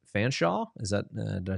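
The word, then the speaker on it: Fanshawe: So I'm going to probably butcher the name. Fansaw, is that did I say that right? Fansaw College. Fansaw College.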